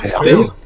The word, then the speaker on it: Peyre: Peyre... Ouais, vous le prononcerez comment? P-E-Y-R. Peyre.